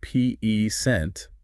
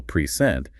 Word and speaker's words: present: stress the first syllable peent it's a noun it means like a gift but if you stress the second syllable prent it's a verb now it means to give something wow that's a great